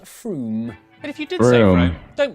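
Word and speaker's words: Frome: on your train wrong it's not from f-r-o-m-e it should be blitheringly obvious it's pronounced froome but if you did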